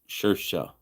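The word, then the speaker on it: Saoirse: Seoris is an Irish name, pronounced Sersha. Don't ask me why it is. It is because I don't speak Irish.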